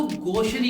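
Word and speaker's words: gauche: इसी तरीके से अशिष्टता या फूहड़ता भरे व्यवहार को गोशरी कहते हैं। इनके करेक्ट प्रोनाउंसिएशन के लिए गोश्त में से त निकाल दो।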